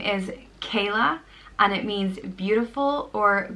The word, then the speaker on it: Cadhla: You know, we have 4 different provinces, and usually names are pronounced differently in each province. So I'd go for Cadhla, just because if I was to read it, that's probably how I would pronounce it.